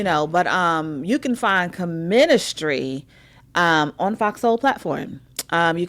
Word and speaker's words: Che-ministry: They're like, yeah, the name of the show is Key Ministry. Don't make sure you say it right when Chanel get here. No, it's Comministry.